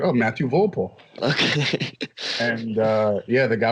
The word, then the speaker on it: Volpe: We have here Matthew Volpe. What's going on? What's going on? That's how you say it, Volpe.